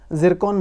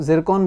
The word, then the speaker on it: Zircon: बात कर रहे हैं उसे इंग्लिश में और हिंदी में दोनों में ही जरकन बोला जाता है जिसकी स्पेलिंग जेड से शुरू होती है तो उसको जरकन बोला जाता है इसकी